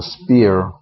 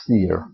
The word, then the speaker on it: sphere: called a sphere uh some people call it a spere but the correct pronounciation is sphere spere uh so this is